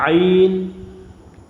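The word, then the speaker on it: عين: বারবার আমরা এই হরফটাকে জব্দ করে নিয়ে আমরা আইন আইন এরকম করে আমরা পড়বো গাইন গাইন ফা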